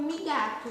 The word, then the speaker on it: Migato: Eu pronuncio meu nome como Migato, mas não sei como você pronuncia, tá, gente?